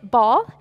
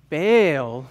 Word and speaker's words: Baal: I'm no longer going to pronounce it ball. I'm going to pronounce the false god's name, Baal. Today we're learning about a false god named Baal. Oh. Baal, not ball.